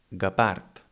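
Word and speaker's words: guepard: Gapart. Gapart is the animal, the cheetah, and the beginning is spelled G-U-E. En català, G-U-E. Ge. And it sounds ge, gapart.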